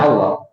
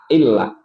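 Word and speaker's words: الله: Tapi kalau tarhib, dibacanya qablahu kasroh, ya, dibacanya illah, ittaqillah, bismillah. Nah, gitu ya. Jadi bacaan tajwidnya begitu. Jadi kalau fathah dan dhammah, Allah pakai O. Tapi kalau di sebelumnya tarhib, kasroh, illah, bismillah, ittaqillah.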